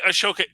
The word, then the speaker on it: Ahsoka: I always thought there's an H in there. Well, there's an H, but I think they... Oh, you don't pronounce it. It's a silent H.